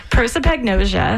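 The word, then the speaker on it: prosopagnosia: So but so you pronounce it for me because I'm not going to even try. Proipagnosia.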